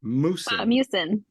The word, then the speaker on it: mucin: Snail mucus or mucin? Mucin. Yeah. Okay. Snail mucin.